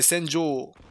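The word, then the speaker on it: Senjou: Bon, de toute façon, c'est pas Senju, c'est Senjo. Ah, d'accord. Ah, là, ça change tout, là. Voilà, ça s'écrit O-U, mais c'est Senjo.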